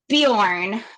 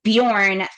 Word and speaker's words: Bjorn: Tolken was using was Bejorn B J O R N, which has the same pronunciation um in Old Norse. right now that name Bujorn um some people might